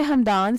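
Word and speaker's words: Hamdan: के माने है जन्नत का दरवाजा नाम है हमदान स्पेलिंग है एच ए एम डी ए एन हमदान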